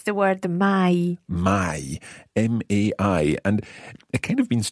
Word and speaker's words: mai: isn't it it's the word the my my m-a-i and it kind of means two things see